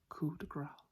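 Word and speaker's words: coup de grâce: A lot of people pronounce this word as coup de grace, would not be quite correct. It's more like coup de grace. Coup de grace. Coup de grace. Not gras, though I can see it's not like Mardi Gras. Coup de grace. Grace. They gotta get that S on there.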